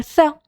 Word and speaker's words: ث: And letter tha. Tha, it have three letters, three dots on this letter, and it's three, and the pronunciation of this letter is tha, like the tha in three.